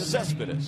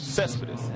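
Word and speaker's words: Céspedes: Cespedes. Cespedes.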